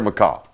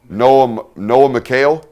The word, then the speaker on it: Noah McHale: Great ball, great catch, great contact right there, McCall. Noah McHale is how we're going to pronounce that.